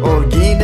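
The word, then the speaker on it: Holguín: name is just as you saw if you pronounce it correctly it sounds like grandma oh geen is the name of the province you are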